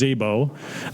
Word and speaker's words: Szabo: It's pronounced Szabo.